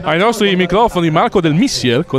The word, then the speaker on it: Missier: Giovincelli, potete far inserire ai nostri microfoni Marco del Missier con l'accento sulla I, come ti chiama Martino.